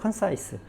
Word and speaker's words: concise: concise라는 단어. 발음도 똑같아요. concise.